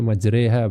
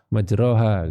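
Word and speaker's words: مجراها: Nah, bacanya majreha bukan majroha gitu ya.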